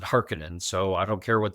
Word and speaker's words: Harkonnen: And we used Frank's as our gold standard — that Frank pronounced it "Harkonnen." So I don't care what the David Lynch movie says. It's "Harkonnen," not “Hark-cone-an."